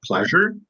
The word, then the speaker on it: pleasure: Yeah, she felt great pleasure in reading her favorite book by the fireplace. So this is pronounced as pleasure. Pleasure. So here there is a soft j sound, pleasure, j, pleasure.